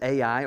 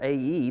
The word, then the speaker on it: Ai: Sometimes it's pronounced as A-I or A-E, depending on who you're looking at or listening to. I'm just going to call it A-I today, but this was